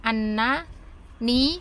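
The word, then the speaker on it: أَنِّي: Ini fathahnya dibuang karena mengikuti ini ya, supaya tidak berat pengucapannya, annani. Jadi harus ambil satu dan dibuang satu huruf nunnya, karena ada 3 kan,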